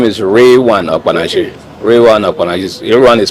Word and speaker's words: Okpanachi: My name is Rewane Okpanachi. Rewane Okpanachi is Rewane is spelled as R E L W A N Okpanachi so K P A N A C H I.